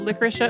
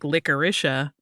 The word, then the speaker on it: Licoricia: confess to you that I have always pronounced it with a harder emphasis on the o so it's like licoricea like this week fine